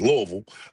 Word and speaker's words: Louisville: Louisville, since Asia's saying we saying it wrong, is Louisville.